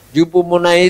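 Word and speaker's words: ὑπομονή: Yupomonai itu Hoopone. Tapi membacanya yupomonai, bahasa Yunani, bahasa Greka.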